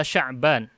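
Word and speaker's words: شعبان: yang keempat letakku luanta Sya'ban bukan saban ini salah ya Sya'ban itu nama bulan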